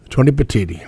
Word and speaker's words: Petitti: we knew yesterday but Tony how do you pronounce Tony petiti Tony Petitti yep worked for MLB he was the number